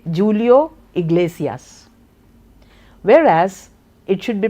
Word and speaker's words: Julio: So anybody with Indian English would say Julio iglacius whereas it should be pronounced as Julio.